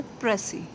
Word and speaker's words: precis: spelling happy आरडीसीआईएस देखिए इसमें जो एप्स अल्फाबेट है वह साइलेंट है तो इसकी करेक्ट प्रनंसीएशन बनती है प्रति ठीक है एग्जाम में